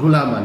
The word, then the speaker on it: gulaman: going to be black gulaman how do you pronounce that it's s gaman g gulaman yeah that's this is gulaman like I don't